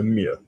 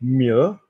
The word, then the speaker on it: mieux: I used to say, better is two words and it will go to one sound, two syllables, and it will go to one sound in French, so mieux.